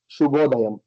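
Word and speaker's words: శుభోదయం: Okay, pronounced Shubhodayam.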